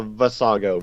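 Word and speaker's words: Vasago: what's your name exactly again how do you pronounce it uh vassago v-a-s-a-g-o sago versailles all right yep for saga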